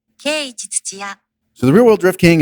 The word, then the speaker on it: Keiichi Tsuchiya: Keiichi Tsuchiya.